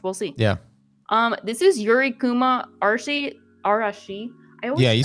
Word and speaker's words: Yuri Kuma Arashi: This is Yuri Kuma Arashi.